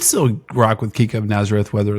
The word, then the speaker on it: Nazareth: We've been under the impression it's Kika Nazareth for years at this point. And then just in this tournament, everybody started calling her Kika Nazare.